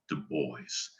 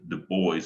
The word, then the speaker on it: Du Bois: that i'm referring to is william edward berghard du bois and i honor his spirit and all the